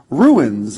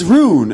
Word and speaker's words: rune: And I would constantly sort of be like, it's rune, and they'd be like, yeah, ruin.